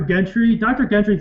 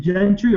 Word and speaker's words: Gentry: Is it Gentry or Gentry? I think it's Gentry, but okay, like a J. Okay, I thought it was a G. Like it is a G, but I think it's pronounced like a J.